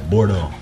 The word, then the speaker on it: Bordeaux: The Bordeaux, it's like, when you spell it, it's spelled Bordeaux, but you pronounce it as Bordeaux.